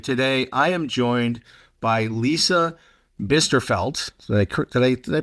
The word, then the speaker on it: Lisa Bisterfeldt: the host of our program, and today I am joined by Lisa Bisterfeldt. Did I pronounce that correctly?